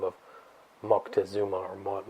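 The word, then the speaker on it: Moctezuma: empire empire a guy by the name of Mocktazuma or Mont montazuma as they say here in the states but it's Mckesuma is the appropriate pronunciation.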